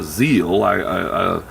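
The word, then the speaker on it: ZIL: the war was over a soviet car company called z IL or z ly i guess you would pronounce it started producing cars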